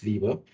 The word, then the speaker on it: Weber: Now, so Max Weber or Weber, depending upon where you want to pronounce it, but it's generally pronounced Weber.